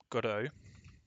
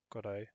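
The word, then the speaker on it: Godot: So, I'm going to have a look at Godo. And that is how you say it, pronounce it, Godo with Blender.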